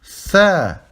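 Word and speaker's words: ث: Tha. Ici, tha, vous mettez la langue entre vos dents.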